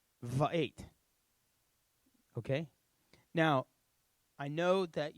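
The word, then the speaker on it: וְאֵת: Okay, and we're going to pronounce it Va'et. Va'et.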